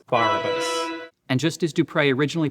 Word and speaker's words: Barabbas: rhythm, which is actually the name Barabbas, but in the French, the emphasis is on the first part of the word, so that's why it's Barabbas.